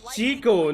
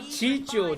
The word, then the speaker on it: Chico: Chicho and Tayson are both very It's Chico, not Chicho, dumbass.